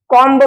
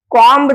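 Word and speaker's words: comb: एम बी इथे इथे काय म्हणाल कॉमब म्हणाल का कॉम जर म्हटलात तर तो प्रोनन्सिएशन चुकीचा असणार आहे तो उच्चार चुकीचा असणार आहे या ठिकाणी योग्य उच्चार कसा आहे कॉम second B ओ एम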